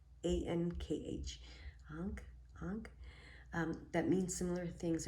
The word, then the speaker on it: Ankh: There are universal symbols like Om and, I don't know if I'm going to pronounce that right, A-N-K-H, Ankh, that means similar things around the world, but most symbols will be personal to you.